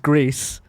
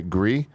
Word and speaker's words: Gris: Gris is pronounced Grease because Nomada Studio is Spanish. It means great. I always look at it and I think I know how to say it, and I don't. The problem is, he says that. I've heard other people say Gree that work at the studio.